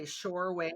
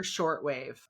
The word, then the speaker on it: Shortwave: Shorewave or shortwave? But I've been saying the name wrong so much. It's Shortwave.